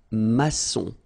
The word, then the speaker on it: maçon: And it just means that you will pronounce this C as S, okay? So that's the reason why. It's un maçon.